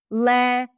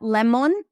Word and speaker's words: lemon: Lemon men, not lemon. There is no O. Again, not a huge mistake, but listen closely and as you improve your listening skills, you will also improve your pronunciation skills. Okay? Lemon. So, you know, instead of thinking of pronouncing it like a different sound, just think of reducing the O al together.